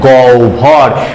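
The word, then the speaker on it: গহ্বর: ভর অভর অর্থাৎ এর উচ্চারণটা গ হয় বের উচ্চারণ হবে গৌ ভর ঠিক তেমন আ হয় বয় আকার দন্ত এর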